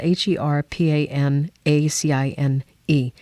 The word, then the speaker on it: Herpanacine: you this the amazing thing about her panine it's spelled h e r p a n a c i n e is herpanacine isn't just like Taylor was talking